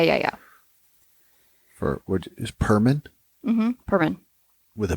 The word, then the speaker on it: Perman: have come yeah yeah yeah for what is Perman mhm Perman with a p yep okay it's